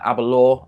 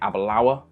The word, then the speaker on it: Aberlour: pronunciation of this thing I think I go through and say Abba law a lot of a law when you really want to be saying a Balaur and it also made